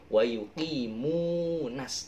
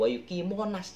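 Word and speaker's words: ويقيمون: Wa yuqimunas, tapi jangan wa yuqimonas, jangan bacanya, tapi wa yuqimunas, nas sholah ya, jangan wa yuqimunas.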